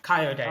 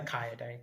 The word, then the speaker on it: Kayode: So, it's pronounced K. Ka day. Okay. Kyod. Yeah. Some people call him Kai for sure, but I prefer Kaio day cuz Yeah, that's his name.